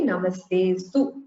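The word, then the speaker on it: नमस्तेऽस्तु: For instance, we don't say Namaste Astu. We say Namaste Stu only.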